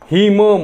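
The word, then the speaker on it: hymn: वगैरे ठीक आहे ना याला आपण हिम्न नाही म्हणत हिम न असं म्हणतो का नाही फक्त काय म्हणतो आपण हिम म्हणजे इथे एन सायलेंट आहे इथे डब्ल्यू सायलेंट आहे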